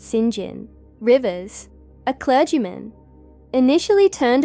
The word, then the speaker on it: St. John: Rivers, and their brother St. John, pronounced Singin, Rivers, a clergyman.